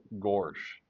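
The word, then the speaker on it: Goresh: And they call it gorch, but it's spelled G O R. G O R E S H. Gorch. Gorch. That's kind of funny.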